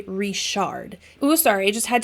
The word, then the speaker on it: Richard: from Willow creek creek you would probably pronounce his last name as Richard but because we know that they are from Willow Creek their name is actually rishard oh sorry I just